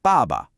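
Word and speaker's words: 爸爸: Let's break this word down. The first syllable, ba, is a fourth tone. It's sharp. It's a decisive fall in pitch, almost like a command. Ba. Then the second syllable is a neutral tone, so it's light and unstressed. This pattern is super common for family members. So al together we have baba.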